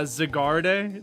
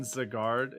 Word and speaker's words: Zygarde: It's French, so the E in Zygarde is silent.